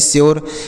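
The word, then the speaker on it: sure: ई क्योर अब देखिए एस यू आरई तो एस से लिखेंगे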